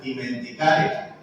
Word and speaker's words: dimenticare: No hablo italiano, pero lo que pude investigar se pronuncia dimenticare.